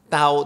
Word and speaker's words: Tao: And actually in Mandarin it should be pronounced Tao, Tao with a D, all right?